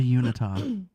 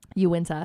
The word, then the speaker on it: Uinta: away from them the unitard the Unita mountains as somebody would say that's not that's not how you pronounce it Uinta I actually would like